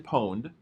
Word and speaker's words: pwned: There's a website called Have I Been Poned? And PWNED is how they spell it.